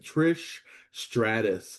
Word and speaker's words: Stratus: Why can't I say her name right? Trish Stratus. There's no H on the end of that.